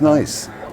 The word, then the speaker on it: Nice: Because it's nice. Nice The is French nice.